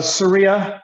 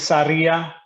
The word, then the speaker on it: Sarria: might have butchered it is it sierra or sarah uh surya surya or and spanish is saria oh yeah so can